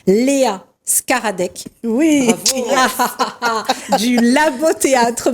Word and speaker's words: Szkaradek: la joie donc d'accueillir, alors attention pour la prononciation, Léa Skaradek. Oui. Bravo. Du Labo Théâtre. Bonsoir Léa, comment ça va? Ça va très bien. Alors, donc, Léa Skaradek, donc comédienne.